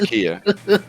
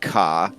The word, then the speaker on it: Ka: off against the Ford Kia. I pull my sword. Don't. It has a defense. I keep saying it right. It's the Ford Ka. Kia is a brand of car, but the Ford Ka